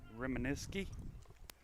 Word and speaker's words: Reminiski: That'll bring up Drake Reminiski. Is that right, Adam? That's the proper pronunciation, Joe.